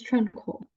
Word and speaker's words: tranquil: it's tranquil. Okay, need to pronounce it correctly. I Okay, heard on Google Translate and it called tranquil, and I'm not okay, sure. right. So it's tranquil, it's pronounced. Tranquil, tranquil.